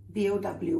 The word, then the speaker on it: bow: But the bow of the boat, remember, rhymes with now.